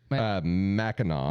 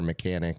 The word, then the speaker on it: Mackinac: Mackinac. Mackinac. Is how it's pronounced. Even though it Mackinac. looks like Mackinac. Mackinac or Mechanic or Nope.